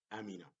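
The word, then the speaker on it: أَمِنَ: Here, amina, like one word, there is no syllables, only one syllable.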